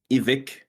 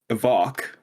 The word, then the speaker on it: Evike: Vegas evik evik evic do you know how to pronounce their name or you don't I do it's evik okay uh but iik is I hear some people randomly call it and then as Siri calls it evok EV so it's a